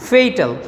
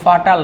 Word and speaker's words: fatal: Which can বি ফেইটাল। দেখো FATAL, এটা কিন্তু ফাটাল না, FATAL, এটা কিন্তু উচ্চারণ ফাটাল না, ফেইটাল।